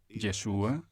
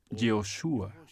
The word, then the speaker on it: Yeshua: aquel tiempo el nombre de Jesús Seguramente se pronunciaba yeshua o yoshua en hebreo y Yes en griego está claro